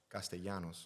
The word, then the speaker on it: Castellanos: So they so properly the L's make a Y. So like so say it so Castanos Castanos Nick Castanos don't speak Spanish.